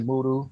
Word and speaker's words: Moudou: Is it Moudou? Yes, it's actually Moudou, but that's fine. It's pronounced different ways. But Okay. Moudou is the most prominent pronunciation.